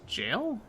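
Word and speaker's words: gaol: Wait, they pronounce Gal as jail? I thought it was always pronounced as Gal in this. No, it's jail.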